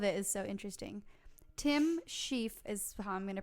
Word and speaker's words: Shieff: eggs all of it is so interesting Tim shieff is bahama to pronounce his last name it's sh IEF F